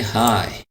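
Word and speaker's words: high: यहाँ पर जी जो है साइलेंट है, तो इसको हम पढ़ेंगे हाई।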